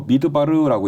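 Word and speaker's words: מדבר: 별칭으로 부르는 겁니다 광야는요 히브리 원어로 미드바르라고 읽어요 미 미드바르가 되면 무슨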